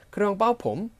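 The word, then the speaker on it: เครื่องเป่าผม: 크르앙 빠오폼. 크렁 빠오폼 이게 아니라 크렁 빠오폼 이게 아니라 크렁 빠오폼 하고 이성처럼 발음하셔야 됩니다.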